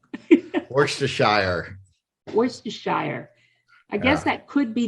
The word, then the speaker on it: Worcestershire: was asking you for i just said it worcestershire there you go you're the first one the guy how do you say it works to shire worcestershire i guess that could be the english way